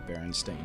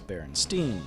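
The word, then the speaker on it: Berenstain: actually centers around the baron stain bears as many people misremember the name as Baron Stein spelled like Frankenstein wait a minute the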